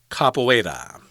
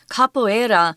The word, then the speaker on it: capoeira: And this word I guess is from Portuguese and it's pronounced capoeira. Capoeira.